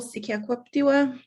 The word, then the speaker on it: Sekaquaptewa: I'm Sekaquaptewa, 5 easy syllables.